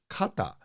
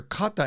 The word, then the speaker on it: かた: However, I also know the kanji can be read as kata. It seems like I hear kata in conversations more than I do ho.